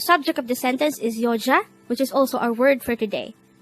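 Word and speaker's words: 여자: 125 yo yo this is pronounced as a two-syllable word the first syllable is yo the second syllable is pronounce it with me the word yoja is simply the korean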